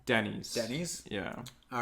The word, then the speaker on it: Denys: Denny's.